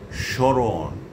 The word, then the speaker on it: স্মরণ: যদি শব্দের প্রথম ব্যঞ্জন বর্ণের সঙ্গে মফলা যুক্ত থাকে তাহলে সাধারণত তার কোনো উচ্চারণ হয় না। তবে প্রমিত উচ্চারণ রীতিতে মফলাযুক্ত বর্ণটির উচ্চারণে খানিকটা নাসিক্য প্রভাবিত হয়, অর্থাৎ একটুখানি নাকিস্বরে উচ্চারণ হয়।